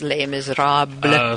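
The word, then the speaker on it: Les Misérables: Mis is the most popular one, but the actual is Les Miserables. So that's the hipsters being cool. Okay, gotcha. Yes, I love when somebody can pronounce it correctly.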